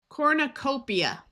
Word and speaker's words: cornucopia: Cornucopia. OR says or. We have a long O, and I switches to the long E before the A.